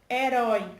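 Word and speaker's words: héroe: Quando eu penso no espanhol, herói com E, fica herói. Então, a sílaba que é tônica é a primeira sílaba.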